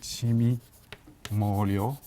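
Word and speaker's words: 魑魅魍魎: Toutes sortes d'anecdotes, toutes sortes de références montrent que ces Guixin, qu'on appelle aussi Cheme Wangliang, qui se prononcera en japonais Chimi Morio.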